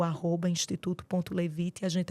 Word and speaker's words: Levite: que essa Clínica faz especificamente maravilha o Instituto levite pegando até um pouquinho da da etimologia e Pô você até soube pronunciar corretamente que Geralmente a galera não pronuncia